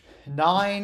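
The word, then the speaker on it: nein: German and oh yeah nine is how you say no in German which that sounds a little bit weird for English speakers because nine is a number yep and then how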